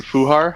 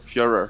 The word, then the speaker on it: Führer: Mein Fuhar? How do you say it? Führer. Führer.